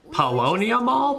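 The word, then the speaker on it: Paulownia Mall: to mean well this is palonia mall but palonia mall that's how you pronounce it what's going on did we make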